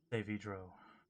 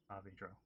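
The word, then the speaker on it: Saavedro: Savidro. Savidro? Savidro, yeah. It's still terrible at pronouncing that, even though you told me how to pronounce that.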